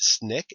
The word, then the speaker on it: SNCC: Important organizations you should be familiar with include the Student Nonviolent Coordinating Committee, pronounced SNCC, and they helped register blacks to vote in Mississippi, where only 5% were registered in 1964.